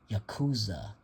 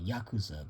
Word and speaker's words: Yakuza: nerves when they keep pronouncing the series as Yakuza instead of like I say, Yakuza, the more proper way of pronouncing it.